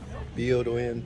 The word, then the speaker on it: Byodo-In: So is this Byodo-In or is it Byodo Temple? Byodo-In Temple. Byodo-In Temple. There you go.